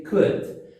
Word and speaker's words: could: Também está marcado a pronúncia, percebe que tem um cortezinho no O, porque não lê o O e nem o L. Então, você lê could.